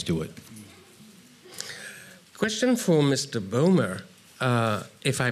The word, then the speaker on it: Bomer: Bomer. If I pronounce it right.